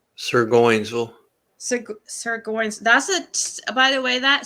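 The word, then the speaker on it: Surgoinsville: Surgeonsville? Sirgoinsville.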